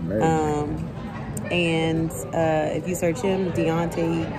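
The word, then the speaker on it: D'onte: Yes, it's D apostrophe O N T E Carroll. Yes, and it's pronounced Deontay.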